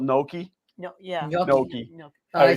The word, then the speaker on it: gnocchi: Gnocchi. I say it wrong too then. So good. I always call it ganache.